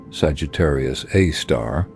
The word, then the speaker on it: Sagittarius A*: The black hole at the center of our own Milky Way galaxy, an object called Sagittarius Asterisk and pronounced Sagittarius A star, weighs about 4 million times as much as the sun.